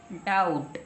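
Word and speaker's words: doubt: है डीओ य वी टी क्या बन गया डाउट क्या बन गया डाउट हमने कहा था यदि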